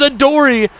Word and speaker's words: Adoree: Oh, there goes Adoree. Rhymes with story.